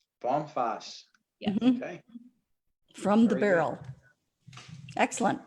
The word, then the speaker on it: Vom Fass: mary f is in frank a s s bomfass yes from the barrel excellent well we are